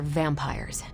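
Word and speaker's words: vampyres: The new breed I'm tracking are, they're vampires. I see. No, I do not. You already said they were vampires. Vampires with a Y? Pronounced exactly the same as vampires.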